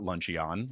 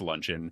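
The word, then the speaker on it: luncheon: Me for example in fifth grade I learned that it's not lunchion like it's a Pokemon it's lunchon.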